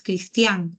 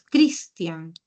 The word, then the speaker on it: Cristian: que que se lleve Porque es Cristian no es cristián es Cristian debería llevar tilde en la No pero está con tilde o no A ver déjame ver bien si tiene tilde porque se pronuncia Cristian no Cristian Entonces si es Cristian es grave pero como termina en N Ah acá es el error como termina en N sí no debo tildar lo cierto las palabras